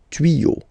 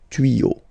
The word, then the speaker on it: tuyaux: Okay, des tuyaux. Same rule, you don't pronounce it. Des tuyaux.